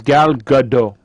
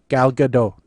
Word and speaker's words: Gal Gadot: Is Gal Gadot. Gal Gadot. Yes, there's a T in there.